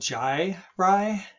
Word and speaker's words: gyri: red right here now this term right here is called jai rye okay and that's that